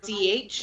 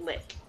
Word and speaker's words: Likh: assumed it was Lich. K. No. K-H. They pronounced it lick.